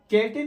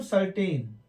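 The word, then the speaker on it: certain: जैसे मैंने कहा था, यदि सी के बाद लेटर ई आई वाई कोई भी हो इनमें से, तो सी का साउंड सा हो जाएगा। तो ई आ गया, तो यहां पर हम इसको कैटिन नहीं पढ़ेंगे, इसको पढ़ेंगे हम सर्टेन।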